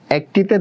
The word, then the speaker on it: একটি: এটা অনেক জায়গায় বানানটা এভাবে দেখায়, আবার এটা একটি, এই বানানটাও ঠিক দেখায়। এটা নিয়ে একটু কন্ট্রোভার্সি আছে, এটা নিয়ে আসলে স্বচ্ছ, এটা পরীক্ষায় আসে না যেহেতু কন্ট্রোভার্সি আছে, তাও আমি তোমাদের ক্লিয়ার করার জন্য বলতেছি।